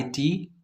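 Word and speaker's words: knit: गया इसी तरह से के एन आई टी ट पढ़ा जाएगा इसका मतलब कि के साइलेंट हो गया स्पेशल रूल यह है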